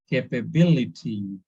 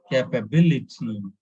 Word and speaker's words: capability: Capability, capability. It is stress on BIL, capability.